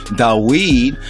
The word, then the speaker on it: Dawid: the Root of David, of Dawid, right, of Dawid, yes, that's how it would be pronounced correctly, Dawid, have prevailed to open the book and to loose the seven seals thereof.